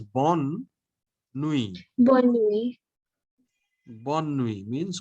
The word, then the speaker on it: bonne nuit: But night is feminine. So it is bonne nuit.